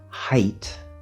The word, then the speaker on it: height: Notice the word height, which is spelled H-E-I-G-H-T, but it's actually pronounced with the diphthong I, not the diphthong A.